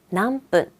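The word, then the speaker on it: 何分: 자, 마지막으로 몇 분 할 때도 발음은 세져요. 남분, 난지, 남분, 몇 시, 몇 분.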